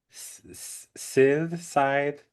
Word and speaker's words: scythe: Beautiful, scary makeup, lovely dress, a little scythe.